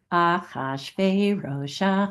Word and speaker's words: Achashverosh: The chorus just goes, Achashverosh, Achashverosh, Achashverosh.